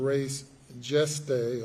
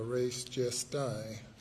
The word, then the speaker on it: res gestae: under the theory of res geste or res gestae, as some might pronounce it.